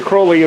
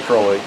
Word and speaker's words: Crowley: crow if they probably why I say yeah that's why everyone says it yeah but he always said crow Lea rhymes with hole yeah unholy crawly she drew a depiction